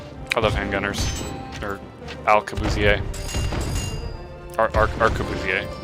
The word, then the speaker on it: arquebusier: Arquebusier.